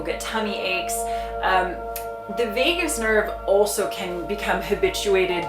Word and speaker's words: vagus: vagus nerve now the vagus nerve it's spelled v-a-g-u-s so it's vegas rather than las vegas um so the vagus